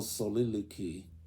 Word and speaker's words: soliloquy: in what we call soliloquy, soliloquy, SOLILOQUY. Let's check the pronunciation here. Let's see. Soliloquy. Soliloquy. So the last syllable goes qui.